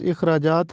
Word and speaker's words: اخراجات: اخراجات، یہ درست تلفظ اخراجات ہے، الف کے نیچے زیر لگا ہے، ہم اس کو زبر کے ساتھ پڑھتے ہیں، اخراجات پڑھتے ہیں جو کہ غلط ہے۔ درست تلفظ ہے